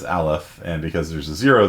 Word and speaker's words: aleph: what that means and anyone know how you pronounce that the n n zero alef no nobody was gonna go with aleph on that one yeah that is uh that is aleph and because there's a